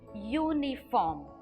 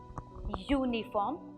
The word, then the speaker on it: uniform: and say orange similarly the next example is uniform so here the vowel U sounds as it it's a consonant Y uniform here if it is